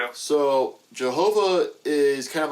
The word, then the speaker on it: Jehovah: So it's the tetetrogrammaton but it has but the you know y is pronounced with a j sound in German and a lot of early Christian scholarly research was in German.